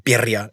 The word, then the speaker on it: birria: I guess I'm pronouncing birria. You got to have the R in there.